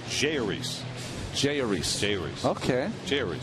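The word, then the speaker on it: Jeurys: Jayuris. Jayuris. Jayuris. Jayuris. Jayuris. Okay. Jayuris. So it's like there's no accent anywhere on any syllable.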